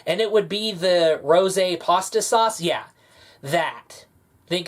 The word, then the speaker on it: Rosé: It's pronounced Rosé, and what Rosé was...